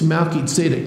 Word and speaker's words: Melchizedek: In Hebrew, it's Melchizedek. Now, that's a mouthful.